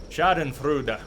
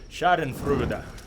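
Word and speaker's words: Schadenfreude: you for the pronunciation sh and frud so I have to pronounce the e at the end I'm being told I need to pronounce the E sh and fra which is a very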